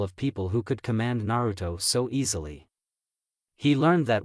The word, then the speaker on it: Naruto: you aido asked Nar curiously yes no it's Naruto Obi corrected the Emperor as the kid put